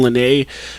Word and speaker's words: Lenae: Her name is Raven Lene. Raven is spelled Ravyn. Lene is spelled Lenae.